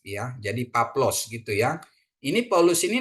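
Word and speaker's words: Παῦλος: Jadi bacanya dia Paplos bukan Paulos gitu ya, Paplos gitu ya.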